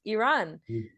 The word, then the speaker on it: Iran: Is Iran, like E and then run.